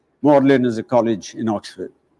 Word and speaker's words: Magdalen: not lyster and the third word instead of magdalene is pronounced as mordlin morlin is a college in oxford then we come